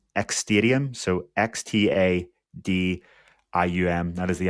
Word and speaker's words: Xtadium: I kept saying the app because I don't really know how to actually pronounce it. It's Xtadium, so Xtadium.